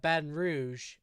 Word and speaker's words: Baton Rouge: And Baton Rouge is a perfect example of the GE sound making a sh sound, right?